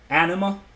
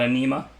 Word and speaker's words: anima: once in a while anima like animal Ana not anema draft lessons and pronunciation